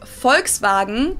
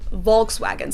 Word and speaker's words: Volkswagen: pronounced as f's and the w's are pronounced as v's which is so weird